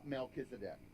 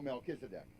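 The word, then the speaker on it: Melchizedek: I'm going I call I said do you know the melchisedec not do you know melkisedek melchisedec was not the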